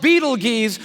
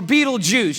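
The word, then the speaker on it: Betelgeuse: heard about this star it's called Beetle Gees or beetle juice you can pick your pronunciation I'm obviously going with Beetle Juice and Beetle Juice is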